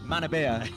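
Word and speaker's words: Manorbier: the local area, to Menorby, as you say, and Pembrokeshire. Manabia. Sorry, apologies. No, it's a classic. It's a classic. I got the French pronunciation going on there.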